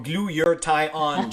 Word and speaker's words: glutathione: needs to survive is glutathione and so that is pronounced as glue yeah a lot of people have a hard time saying that word or glue your tie on gentlemen this is how